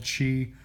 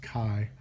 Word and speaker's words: chi: 11 it's called chi-square tests it's not called Chi do not listen to mr. Boles he likes calling it Chi but it's pronounced Chi c-h-i there are three types of chi-square tests